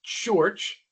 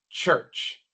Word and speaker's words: church: Mucha gente pronuncia mal esta palabra porque quieren pronunciar la u como una u en español. U, así no se pronuncia, no es church, tampoco es church, sino church. No se preocupen por pronunciar la vocal.